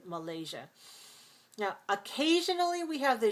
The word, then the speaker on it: Malaysia: And we also have it in words like Asia and Malaysia and Indonesia. Now, it's also possible to say Malaysia and Indonesia. Some people say that. Most Americans don't. Most Americans say Indonesia and Malaysia.